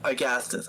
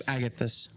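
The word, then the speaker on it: Agathys: Um, armor of Augustus. I don't know how the how to pronounce it. Oh, armor of Agatus.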